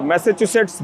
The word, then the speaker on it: Massachusetts: institute of technology तो उच्चारण में बहुत दिक्कत होती है कई लोगों की लेकिन आप मैसाचुसेट्स बोल सकते हैं और अगर आप स्पेलिंग